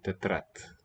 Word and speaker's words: тетрадь: Oh, here's the soft sign. Tetrat. Won't be sounded here. I don't think tetrat. You might palatalize it a teeny bit.